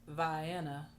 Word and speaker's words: Vienna: During the 40-minute drive to the small town of Vienna, pronounced Vienna by locals, the rain reduced to a drizzle, though the sky was dark with a threat of more.